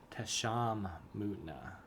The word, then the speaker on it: Tesham Mutna: And I just want to compare it to our Tesham Mutna. That's how you pronounce that.